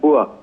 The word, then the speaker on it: bourse: ये जो आप बात कर रही हैं बोर्ड्स की, जिसे अंग्रेजी में BOURS लिखा जाता है, लेकिन ये एक फ्रेंच वर्ड है जिसका उच्चारण है बुआ और इसका मतलब होता है एक स्टॉक मार्केट, एक मार्केट प्लेस।